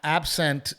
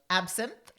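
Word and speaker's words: Absinthe: Absent is one of my favorite shows. Did I say it right? Absent. Absinth.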